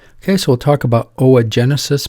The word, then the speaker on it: Oogenesis: do that first okay so we'll talk about Oh a Genesis pronounce Oh Jen yeah like egg assists or Genesis